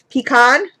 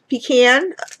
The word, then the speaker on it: pecan: pretty color pumpkin peek pecan pecan wherever you're from i guess is how you say it but i say pecan pecan pie i see p i say pecan pie but then when i say it by itself it's pecan i don't know it's weird